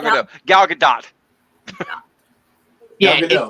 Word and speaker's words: Gadot: It's actually, you gotta say it like actually Gal Russian, yeah. Gadot. It's Gal Gadot, not Gal Gadot, but I can see how people, the American version of that one.